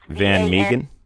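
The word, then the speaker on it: Van Mieghem: It's Van Meegen? Yes. Okay, please spell that.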